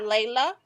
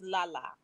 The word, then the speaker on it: La La Anthony: to let you know it's not layla it's la la la la la la anthony is who that was